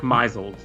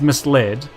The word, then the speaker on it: misled: makes sense um like mizelled yeah mizelled is my favorite because it's misled but mizel means something not very different but distinct i think than misled if you've maisled someone it's